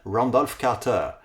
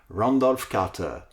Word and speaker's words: Randolph Carter: Eh bien je l'ai prononcé le plus possible à l'américaine, Randolph Carter. Randolph Carter.